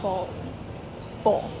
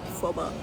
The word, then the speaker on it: phở bò: Can I have a phở bò? That was embarrassing. It was embarrassing. Ooh. My pronunciation wasn't right and she was like, phoba.